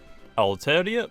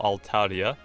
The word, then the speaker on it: Altaria: But today, also we are going to be using Mega Altaria, or Altaria, depending on how you pronounce it, but also the move sets that